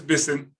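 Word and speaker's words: Bissen: so sorry can you tell me again the pronunciation of your last name oh it's bison listen okay thank you next can we hear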